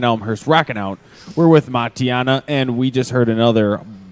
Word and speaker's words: Matianak: Yeah, it's Matianak. The K is silent.